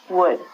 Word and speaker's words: would: All of these L's are silent. So it sounds like should, could, and the thing that we get from trees, would.